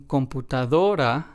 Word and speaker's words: computadora: And then, in computadora, we stress the second to last syllable because that is what this rule asks us to do. So, we stress the syllable do.